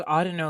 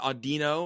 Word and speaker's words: Audino: I thought it was Audino, like audio. I've always pronounced it Audino with the, but both of you know sound better than I do.